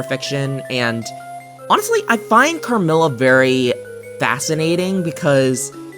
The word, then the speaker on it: Carmilla: I mean, we had Camilla, which, oh, Camilla's a whole other thing. I haven't read Camilla, but considering that, or, I think I'm saying it wrong, I think it's Carmilla, God, Jenny.